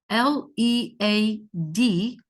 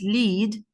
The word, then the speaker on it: lead: Example, the word L-E-A-D, it is either pronounced as lead or lead. So they are written in the same way, they have the same orthographic shape, but still they are pronounced differently. Pronounced in different ways. One of them is pronounced as lead, depending on its meaning, as a verb, of course, and the other one is pronounced as led, although they have the